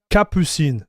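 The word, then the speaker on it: Catppuccin: If you start on a base of Catpuccin, man, I don't know how to pronounce this word. This is the Cappuccino theme. It's a well-known type of film, dude. Capucine.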